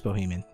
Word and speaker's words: Bohemian: No, that is the right word. Yeah, it is Bohemian. That is how you say that.